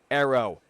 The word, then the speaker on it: Aero: wing, aka the Forza Aero, A-E-R-O. We already know how it's spelled, not A-R-R-O-W, because that don't make sense. Aero as in aerodynamics.